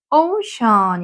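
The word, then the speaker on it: ocean: 거죠 그다음 옆으로 가서 오션 있네요 오우 연결해서 하는 한 번에 오 오 그다음에 S게 있는 거는 쉬 소리거든요 그래서 오시 하면은 바다가 되는 거죠 오시 해양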